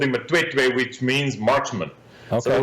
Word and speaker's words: Matwetwe: But get back to your outfitting business there, and correct me if I'm wrong, but it's pronounced Matwetwe.